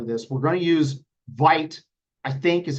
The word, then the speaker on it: Vite: We're going to use Vite, I think is how it's pronounced.